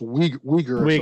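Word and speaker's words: Uyghur: didn't understand I thought it's it's pronounced weager like that yeah weager that is the group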